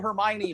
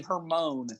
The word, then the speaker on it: Hermione: to me she called she called hermione her moan when she read it